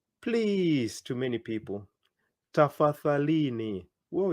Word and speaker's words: tafadhalini: Tafadhalini. Whoa, it's a long word. I want to hear your pronunciation.